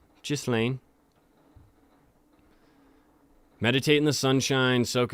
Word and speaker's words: Ghislaine: Yeah, Ghislaine. I had a lot of people comment, that's not how you pronounce her name. Okay. Kind of is spelled that way, though. If you do the soft G. Ghislaine.